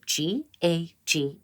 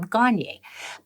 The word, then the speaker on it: Gagne: last name is spelled g-a-g-n-e and it's a French name gagne but I've gotten gagne I've gotten all sorts